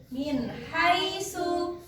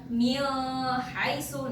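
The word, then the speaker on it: مِنْ حَيْثُ: kan di sini ya jadi bacanya jelas min haisu min haisu Nah jadi enggak boleh nih karena ini kan bacaan izhar enggak boleh dibaca Mi haisu Nah itu kan namanya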